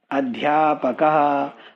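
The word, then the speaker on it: अध्यापकः: You put one visarga after this word and this word is pronounced as adhyapakah.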